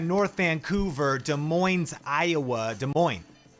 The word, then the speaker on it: Des Moines: Des Moines. The S is silent.